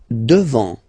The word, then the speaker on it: devant: Devant, final T not pronounced.